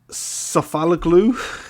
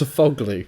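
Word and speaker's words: Sofuoğlu: Sofaloglu, is that how you say it? That is definitely not how you say it. You've put Sofaloglu. It's not sofa, it's just Sofoglu.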